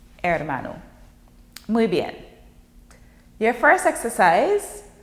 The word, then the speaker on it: hermano: Remember, the H is silent in Spanish. So you don't say hermano, it's hermano.